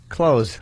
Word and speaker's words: clothes: Oh, what should I have said? Close. Close. Close. Yeah.